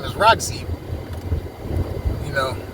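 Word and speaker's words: Rogzi: TikTok, his name is Roxy. You know, it's not spelled like the woman Roxy.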